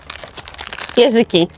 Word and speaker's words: jeżyk: Jeżyki.